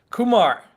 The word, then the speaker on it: Kumar: so how do you say your last name kumar it's the i think it's the most common name in india like every if you go to india and try to ask people with kumar to raise their hand you'll just like get